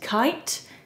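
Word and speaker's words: Khaite: use the and i'm not sure how to pronounce this brand but i think it's kate kite kite it might be it's k-h-a-i-t-e katie holmes wore a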